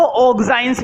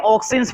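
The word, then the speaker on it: auxins: हाँ, इसको ऑक्साइंस भी बोलते हैं, पहली बात तो ये, इसको प्रोनाउंसिएशन अगर करोगे तो ऑक्साइंस भी बोलते हैं, ठीक है, लेकिन ऑक्सिन्स बोलो तो ज्यादा अच्छा है, ठीक है।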